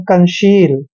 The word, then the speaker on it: conceal: CO का उच्चारण कै करते हैं, एन को आधा न पढ़ते हैं, सी का उच्चारण यहाँ पर से करेंगे, क्योंकि जब भी सी के बाद ई आता है तो सी को हमने श पढ़ना है, और ई ए का उच्चारण ई की मात्रा करते हैं और एल को ले पढ़ते हैं, मतलब कंसील।